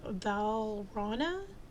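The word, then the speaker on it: Valrhona: um cadmium and then you have what's called valana I'll I was going to say albino but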